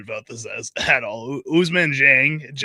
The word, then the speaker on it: Dieng: Ousmane Dieng.